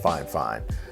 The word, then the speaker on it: FIFINE: company called fine fine it's spelled fi F I and II but I'm pretty sure it's it's called five five I've seen some reviews